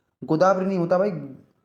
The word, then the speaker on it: गोदावरी: गोदावरी नहीं होता भाई, गोदा गोदवरी नहीं होता भाई, गोदावरी होता है, गोदवरी नहीं होता, गोदावरी होता है।